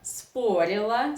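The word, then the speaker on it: спорило: You know that Russian reduction law works here. So o unstressed, according to Russian pronunciation laws, you should pronounce as a. So neuter and feminine are the same in pronunciation. The difference is only in spelling.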